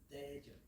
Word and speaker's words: 대전: Mon cher Renaud, comment je bien prononcer le nom de la ville ici? 대전. Daejeon.